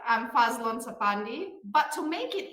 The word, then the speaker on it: Fadzlun: for you well Bill first and foremost you pronounce my name just right I'm Faz Lon Sai but to make it easier for you